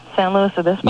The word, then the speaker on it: San Luis Obispo: San Luis Obispo?